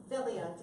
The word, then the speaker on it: Felia: That's why when I found out about this line, Philia, am I saying it right? No. Tell me how I say it. Philia.